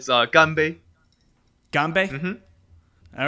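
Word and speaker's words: 干杯: you say cheers Andrian yeah it's a Gumby ganbei all right dude ganbei yeah cheers Cheers all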